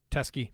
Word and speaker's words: Teske: Tresky? Yeah, Teskey.